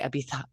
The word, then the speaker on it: Ibiza: no, like I always want to laugh when people say Ibiza. And I'm like, it's Ibiza. Just Ibiza.